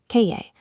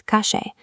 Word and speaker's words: calle: In Buenos Aires, both the double L and the letter Y are pronounced with an aggressive SH sound. "Calle" becomes "kashe".